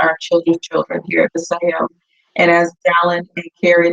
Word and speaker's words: Vasayo: information the name of the company is called Paseo and that is spelled b-a-s-a-y-o for sale so if you want